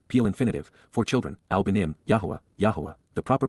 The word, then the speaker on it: Yahowah: and having compassion, peel infinitive, for children, al-benim, Yahowah, the proper pronunciation of the name of Eloah, God as